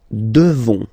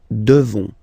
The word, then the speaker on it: devons: Nous devons. Okay, classic ending ONS for nous. Okay, you just pronounce this on, on, this nasal. Okay, and then the S, final S is not pronounced. Nous devons.